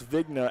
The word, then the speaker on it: Vigna: vigna yes my apologies you think that g is silent but I we learned we learned early on tonight that it is you sound that out my apologies it's vigna at first and now the